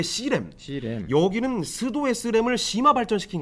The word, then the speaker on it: pseudo: 여기서 P라는 거는 PSEUDO 스도라고 읽거든요. 일본 말인가?